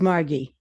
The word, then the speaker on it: Margy: It's Margy with a hard G.